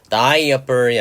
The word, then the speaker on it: diaper: 기저귀 발음에 주의하시기 바랍니다. diaper이 아니라 이렇게 A는 소리 나지 않아서 diaper 이렇게 A는 발음은 사실상 묵음이 돼버려요.